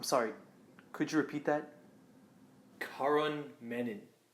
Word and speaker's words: Karan: Nobody really knows how to pronounce it. My whole life, it's brought me pain. Karan Menon. Karan Menon. Quran, the holy book of Islam. Crayon.